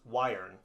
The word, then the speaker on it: Yearn: on let's look at urine finance sometimes pronounced wiring yearn is a platform